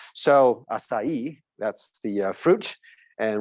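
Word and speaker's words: açaí: the correct pronunciation is acai okay the c with a little tail at the bottom you can pronounce it as an s sound s sound so acai that's the fruit and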